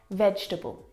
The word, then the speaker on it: vegetable: Okay, the first word is vegetable. Vegetable. Now, this word is a challenge because it looks like there should be four syllables in this word, vegetable.